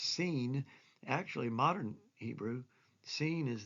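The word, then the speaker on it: סין: was the wilderness of sin. Oh, it's where they're going to be tempted. It's wilderness of sin. Well, it's not really sin in that meaning of that English word. It's pronounced seen.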